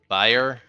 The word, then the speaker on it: Bayer: here that makes medicine that's Bayer b-a-y-e-r but I think that ends up being buyer I was so she